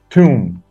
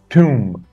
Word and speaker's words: tomb: gangsters gangsters servants servants tomb tomb B is silent yeah B is silent